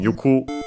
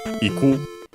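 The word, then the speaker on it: 行く: then we have yuko from yuku, iku, unaccented in either form, means to go.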